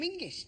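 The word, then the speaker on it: Menzies: get the ginger Burger in fact you should pronounce it Johan mingis apparently it's to do with a defunct Scottish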